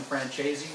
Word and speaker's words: Francese: Both are accepted, and both pronunciations are also accepted.